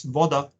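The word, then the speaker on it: voda: here I mentioned that water in Serbian languages pronounced as Vada and what the mesh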